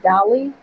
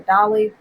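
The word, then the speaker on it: DALL-E: mispronounce this right, but I think it's pronounced Dolly, but it's DALL hyphen E.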